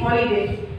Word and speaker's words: holiday: And we say an hour because the H is silent in the hours, but we say holiday because the H is pronounced is holiday.